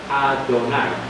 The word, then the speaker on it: Adonai: Cuando tú lees esto en hebreo, Jehová se pronuncia Adonai. Si tú vieras, oye Israel, Jehová, en hebreo es Shema Israel Adonai.